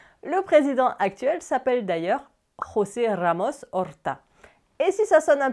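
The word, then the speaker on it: José Ramos-Horta: Le président actuel s'appelle d'ailleurs José Ramos Orta. Et si ça sonne un peu portugais d'ailleurs, je l'ai prononcé à l'espagnol, pas forcément à la portugaise.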